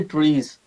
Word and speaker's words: TRIZ: तो पहला ज़ाहिर है कि जी what is trace. So trace is basically Russian word, सो वो से प्रोनाउंस करते हैं जी ट्रीज।